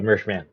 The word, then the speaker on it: Mershman: Is that Mershman? Am I saying it right? Mershman. Yeah, it's Mershman.